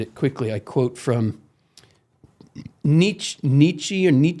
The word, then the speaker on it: Nietzsche: Somewhere in here, if I can find it quickly, I quote from Nietzsche. How do you say his name? Or Nietzsche. It's Nietzsche. pronounced two ways. I've heard it pronounced both ways.